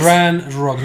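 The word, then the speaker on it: Ranrok: This is Ranrog, no Ragnarok. I said Okay. Ranrog. You just pronounce it this way, okay?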